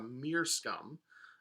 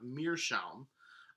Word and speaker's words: meerschaum: The last one is that there's something called a meerscum, which is actually a sort of a mispronunciation of meerschaum, which is oftentimes, so